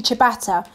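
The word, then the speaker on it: ciabatta: s saata very good the pronunciation is actually chabata but you did really well there reading that Rex we've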